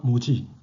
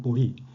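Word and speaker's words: 菩提: 여기서 한자 모지 또는 보리, 안욕다라 삼맥삼보리, 여기서는 이것을 보리라고 읽습니다만 여기서는 이것을 모지라고 읽습니다. 그 뜻은 원래 인도 고대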